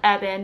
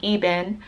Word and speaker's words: Evan: the name or whatever so it's pronounced Evan it's not pronounced ebin its EB and it's short it's only two syllables my girl's name and